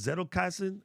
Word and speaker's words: Zettelkasten: anything from the again, it's pronounced Zettelkasten. I don't know, my German is horrible, but Zettelkasten, Zettelkasten.